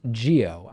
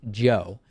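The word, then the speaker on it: Jio: out a service called reliance geo i think that's how it's pronounced j-i-o maybe it's reliance joe and it is uh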